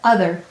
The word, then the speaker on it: other: read it ah or other why did the o say uh o may say a next to a w t h m n or v and there it is